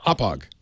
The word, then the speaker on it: Hauppauge: though right yeah yeah Hauppauge little emphasis on the hop yeah well thank you